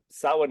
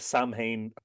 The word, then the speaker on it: Samhain: Samhain is the one, if any of your listeners are confused, you may have heard that pronounced Samhain or something Yeah.